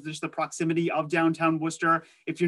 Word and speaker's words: Worcester: to emphasize that pronunciation you can see here from the spelling it does look like worchester it is actually worcester massachusetts so we do drop a few letters there in the middle to get that pronunciation but if you're going